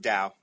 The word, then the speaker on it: Tao: pronounce it Dow. Tao. Yeah, Okay. Dow. Okay. As if a D, but then I'm from Chicago, Mhm.